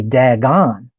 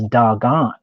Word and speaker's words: Dagon: But nonetheless, there was an event called the Great Vowel Shift, and because of that, we say Dagon in the modern English, but the word is doggone.